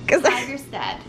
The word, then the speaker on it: Tigerstedt: So Alice, first of all, tell me, how do you pronounce the name of this block? Tigerstedt.